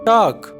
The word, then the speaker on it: talk: टॉक, बात, यहाँ पर एल जो है ये साइलेंट है, यानी साख्त हुरूफ है।